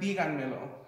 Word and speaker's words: díganmelo: And when you say the word díganmelo, you can hear that the accent and the emphasis is on the fourth syllable.